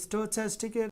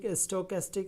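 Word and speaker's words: stochastic: তো যেটা অনলি স্টোচ্যাস্টিক, যেটার আশেপাশে কোনো কিছু নেই, তো এখানে স্টোক্যাস্টিক আপনি যেটা বলতে পারেন, তবে চ্যাস্টিকটাই রিয়েল উচ্চারণ। এখানে দেখতে পাচ্ছেন স্টার চিহ্ন না থাকলে স্টার চিহ্ন দিয়ে দিবেন, তারপর স্টোচ্যাস্টিকের উপর আমরা ক্লিক করব।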